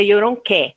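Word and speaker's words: Oyèrónkẹ́: Embora que não é Yoronke, porque é um acento agudo, seria Yoronké. Mas eu não consigo falar Yoronké, eu só falo Yoronke mesmo, tá?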